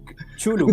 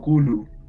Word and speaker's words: Cthulhu: Pero en realidad Cthulhu y muchas de las palabras que utiliza él en su relato, él mismo declara que están escritas para impactarnos, pues no pretende que se puedan pronunciar realmente.